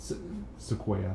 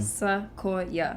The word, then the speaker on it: Sequoia: Sequoia. Sequoia. That's the correct pronunciation. Sequoia.